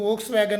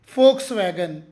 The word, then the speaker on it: Volkswagen: ಎಲ್ ಕೆಎಸ್ ಡಬ್ಲ್ಯೂ ಜಿಎನ್ ಹೆಚ್ಚಾಗಿ ಇದನ್ನು ವೋಕ್ಸ್ wagon ಅಂತಾರೆ ಇದು ವೋಕ್ಸ್ ವ್ಯಾಗನ್ ಅಲ್ಲ ಫೋರ್ಕ್ಸ್ ವ್ಯಾಗನ್ ಫೋರ್ಕ್ಸ್ ವ್ಯಾಗನ್ Germany ದೇಶದ ಕಾರ್ ಕಂಪನಿ